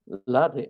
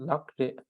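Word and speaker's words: ལགས་རེད: Sometimes if you want to actually pronounce everything, then lakre. But then this becomes the sound too strong. When I say too strong, it becomes too because lakre, there's too much distinction. The flow breaks down.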